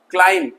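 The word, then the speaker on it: climb: इस तरीके से यहाँ बी साइलेंट है, तो बी के नीचे मैंने अंडरलाइन कर दिया। काम, कंघा, क्लाइम, चढ़ना, जेट, डेप्ट नहीं, डेट, डेट, कर्ज।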